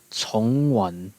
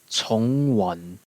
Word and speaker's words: Chongyun: After that, we have Chongyun. The Cantonese pronunciation is Chongwan. Chongwan.